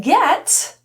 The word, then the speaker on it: get: So what happens to the T in this situation is it turns into what we call a flap T or a lingual flap T. Essentially it sounds like a D.